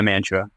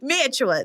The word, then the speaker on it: Mantua: Okay, the word is Mantua. Nicole, how do you say that word? I say that Mantua. Conrad? Yeah, Mantua. That's right. Ding, ding, ding. There's no like official thing, but yeah, Mantua.